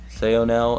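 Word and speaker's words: Saonel: oh now i have no idea how to pronounce it i actually had to look it up sayonel and perennia um i thought they were cool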